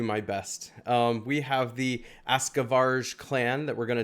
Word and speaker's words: Askavarg: a look at, and yes, it is pronounced that way, even though it's a G, and usually that's a hard G, like G, like Varg, but it's actually Varg.